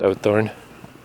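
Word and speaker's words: Uithoorn: I was staying in a place called Ootthorn. U-I-T Thorn, I think is how it was spelled, but it's pronounced Ootthorn.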